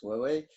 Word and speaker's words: Huawei: le combat sur Huawei, qui s'écrit Huawei, mais qui se prononce Huawei.